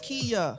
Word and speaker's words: Kaya: Kaya. Pronounced Kia.